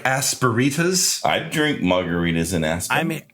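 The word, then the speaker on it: asperitas: It's kind of like Aspen, Colorado, except there's a retas at the end like margaritas. Like aspiritas.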